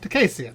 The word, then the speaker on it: Dakessian: Dakessian.